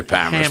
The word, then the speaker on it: Palmerston: if you're a local, you say Palmerston. Palmerston. They drink at the Palmer Hotel, but that's just now. I said since 1968, as though people are now all saying Palmerston because it's a little more sophisticated.